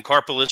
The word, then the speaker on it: Karpeles: so it's like a Karpeles, right? It's like I'm sorry, you think Vince pronounced it properly or took the time? Sorry. Karpeles, carpal tunnel syndrome. That's what I remember it now as.